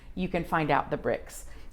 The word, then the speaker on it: Brix: BRIX. Oh, there might be. Well, like Grand Prix, for example, the IX in French is pronounced like a long E. Okay. But it really is BRIX.